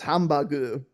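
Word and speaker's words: ハンバーグ: Japanese hamburgers and uh it's it's hambagu it's just how you say it that's just how you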